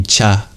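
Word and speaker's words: च: this is wrong it's the first one isn't J it should be cha cha you'll notice in the actual Sanskrit it starts with ch which means the letter cha so I was wrong to pronounce it like that the letter cha is related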